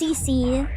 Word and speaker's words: CC: It's pronounced CC. CC, like CC, like seeing, like an eye.